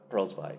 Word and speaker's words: Perlzweig: Morris Abram and Morris Perlzweig, as he pronounced his name.